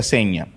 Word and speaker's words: Segna: Se escribe Segna, pero se pronuncia Seña.